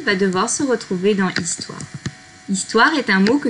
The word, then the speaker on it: histoire: devoir se retrouver dans histoire. Histoire est un mot que nous avons déjà vu dans d'autres dictées avec d'autres sons. Donc normalement, vous savez qu'il s'écrit avec un H que l'on n'entend pas.